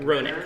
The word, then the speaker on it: Roenick: Roenick.